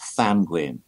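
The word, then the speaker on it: Ddantgwyn: It's actually pronounced Thanguin.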